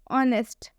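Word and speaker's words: honest: एच के बाद से ओ आ रहा है, ऑनेस्ट। ऑनेस्ट हम इसे इसलिए पढ़ रहे हैं क्योंकि इसमें भी एच साइलेंट है, क्योंकि एच के बाद ओ आ रहा है।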